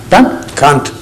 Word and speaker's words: Kant: Pronunciation? Kant? Kant. Kant.